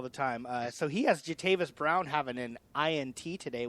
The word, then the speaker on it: Jatavis: Where's the U? Yeah. It's not there. It's Jatavis. I have the same problem with people put an R into my last name all the time. So he has Jatavis Brown having an INT